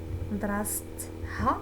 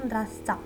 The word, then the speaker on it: mdrastha: pour ne pas confondre les deux lettres T et H qui sont à prononcer séparément et non pas en tant que F. C'est-à-dire, alors je reprends les exemples. Son école à elle, mdrastha.